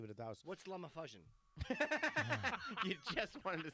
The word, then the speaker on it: LumaFusion: this LumaFusion is the easiest. It's Is it fucking pronounced?